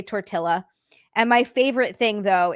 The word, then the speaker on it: tortilla: muscoll or I'll say tortilla. And my favorite thing though is when people correct me like I don't know that I'm saying it the wrong way. They're like it's tortilla. The L's are silent.